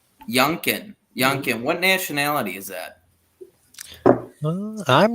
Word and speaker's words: Youngkin: This governor Youngcuff, or how do you say his name exactly? Youngkin. Youngkin.